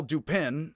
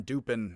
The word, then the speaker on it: Dupin: because i do think the pun dupin he is duping people so i'm just gonna call pose detective dupin from now on and i know and he expects his american audience to pronounce it similarly although he's from the south so he expects him to pronounce it differently from me but you get it